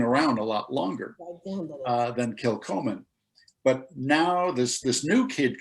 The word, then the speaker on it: Kilchoman: And so actually, I believe the pronunciation is Kilchoman.